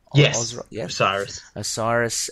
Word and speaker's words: Osiris: So again, we have Set, who is the god of darkness, slayer of how do you pronounce that, kind of Osiris? Osiris, and and having some sort of this dark